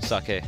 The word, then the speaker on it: saGe: Like this guy, Xiao Sage is how he pronounces his name. Sage? Sake. Not Sage. Not Sage. I thought it was Sage for like 2 years.